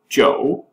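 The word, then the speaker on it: 九: again considered very lucky uh the number nine Joe is uh there's a word that means longlasting it's pronounced the same as it so it's considered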